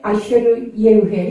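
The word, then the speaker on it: אֶהְיֶה אֲשֶׁר אֶהְיֶה: 예의회라는 예의회라는 그 말씀을 하신 건데, 예의회, 아쉐르 예의회, 이것이 히브리 발음입니다.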